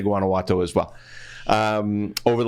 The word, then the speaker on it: Guanajuato: your your proclivity not to be able to pronounce uh Guanajuato silver it is Guanajuato silver we named it after a very famous